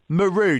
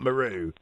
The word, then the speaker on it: Meru: mount meru and kilimanjaro maru did i because i think i pronounced that incorrectly is that what it is mount meru and john i mean